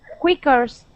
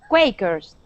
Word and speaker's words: Quakers: to be quakers so this is going to have a long a sound quakers quicker quickers with e with er quickers no it's going to be quay quakers quakers there you go quakers